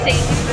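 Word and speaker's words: seitan: It's pronounced Satan.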